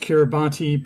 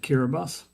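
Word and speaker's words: Kiribati: So, it looks like it should be pronounced Kiraabati, but um the locals pronounce it Kiraabus.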